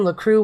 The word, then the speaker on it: LaCroix: LaCroix. LaCroix. No, that's not that. It sounds more. It's got an X on the end, so what the heck? But I think that's silent, you turkey.